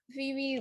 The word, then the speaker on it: Phebe: My name is Phoebe. Okay. So um I'm going to go ahead and introduce Phoebe you all. So born and raised in Ghana, Phoebe learned the importance of mental health and wellness when she started college.